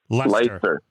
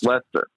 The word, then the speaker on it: Leicester: I can never pronounce that right. Leicester. Yep, Leicester.